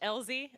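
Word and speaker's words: Elzie: my name is Elie I usually put just the letter but it's spelled e i e so that can be a little bit weird I am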